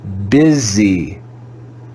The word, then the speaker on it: busy: is an irregular word we actually read this letter u with the sound of a short eye that may be weird